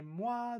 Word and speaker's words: mois: OI is pronounced wa. So we pronounce the M and then we read it moi, moi. The S remains silent because of the rule, right?